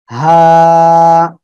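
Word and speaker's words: ح: হা, আমরা এই অক্ষরে কি করব? হলকে শুরু, শুরু কোন জায়গায়? এই জায়গা, হা, এই জায়গা থেকে উচ্চারণ করব আর একালিপ টেনে পড়ব।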